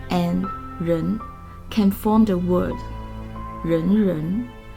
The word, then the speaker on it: 仁: We can add the character 二 to form 仁, which means love, humane, or humanity. It is pronounced exactly the same as 人.